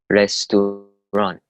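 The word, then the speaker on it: رستوران: Restaurant. Sounds a lot like the English word. Just take away the T at the end of it.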